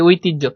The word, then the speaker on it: ঐতিহ্য: সবাই ক্লিয়ার বুঝতে পার এটার উচ্চারণটা এজন্য কিন্তু আমরা বলি ঐতিহ্য। আমরা কিন্তু বলি না ঐতিহ এখানে কিন্তু হর উচ্চারণ করি না। এখানে কিসের উচ্চারণ করি? জর উচ্চারণ করি।